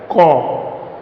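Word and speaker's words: ক: In Hindi we pronounce it as ka, but in Bengali we pronounce it as ko, kho, go, gho, ua,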